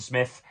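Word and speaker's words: Psmith: This is Leave It to Smith, or Leave It to Smith, as I suppose it's properly pronounced.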